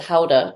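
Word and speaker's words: Gouda: could make the Howa the guda they pronounce it Howa cheese and just Stacks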